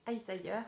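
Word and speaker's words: Isager: C'est une laine, c'est scandinave, mais je ne sais plus d'où, je pense que ça se prononce Iceayer, qu'on ne prononce pas le G, il se prononce comme un IE.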